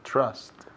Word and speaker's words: trust: La TR ahí sounds like como si fuera una CH. CHR. Trust. Y también esa U suena como si fuera una A, casi.